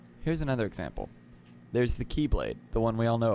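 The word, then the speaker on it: χ-blade: It looks like an X, but it's key, and so you pronounce it Keyblade.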